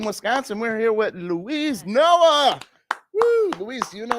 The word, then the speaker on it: Noe: What's the pronunciation? Noe. Noe. Because we didn't have the little accent. I looked. Just how it's spelled. No A. There's no way in there. Yeah. You got it.